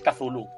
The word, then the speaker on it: Cthulhu: Creo que la pronunciación oficial de esto de Fantasy Flight es Cthulhu.